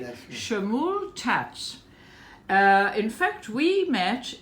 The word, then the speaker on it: Shmuel: Shmuel, did I pronounce it correctly? Yes. Shmuel Tatz.